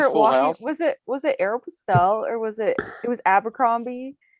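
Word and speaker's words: Aéropostale: It's Aeropostale. That's how I think it said Yeah. Aeropostale. Aeropostale. No. That's how it's said.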